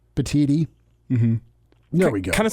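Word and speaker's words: Petitti: I screwed that up what's it supposed to be Elijah I'm supposed to be the tea professional petiti Tony petiti like petite I guess like petiti there we go kind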